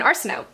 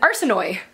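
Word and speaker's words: Arsinoe: time like for example I thought that their names were mirabela Katherine and arsenault but in the audiobook it's mirabela Caterine an arson Oy or arson Oh II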